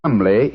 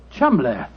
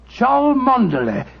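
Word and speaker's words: Cholmondeley: Being an American, he had no reason to know that the name Chumley is in no way pronounced the way it is spelt. Oh, Joe, I never thought of that. Chumley.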